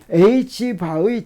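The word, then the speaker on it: ħ: 플랑크 상수를 2파이를 나눈 거를 물리에서는 어떻게 표시하냐면 위에다가 줄을 하나 쫙 긋고 뭐라고 읽냐면 바 이렇게 읽어요. 그래서 이게 H바입니다. 그래서 H바의 정수배만 무엇이 각운동량이 H바가 차원이 각운동량과 같아서 미세계에서 각운동량의 단위가 바로 이 H바가 됩니다.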